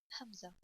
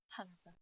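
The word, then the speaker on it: همزة: and sometimes alif curry hamza so hamza it's written like this it's a bit looks like i so hamza and alif got the same pronunciation so you pronounce alif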